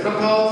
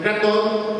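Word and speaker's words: Krathwohl: Okay, some people pronounce it as Krathol, some people pronounce it Krathol.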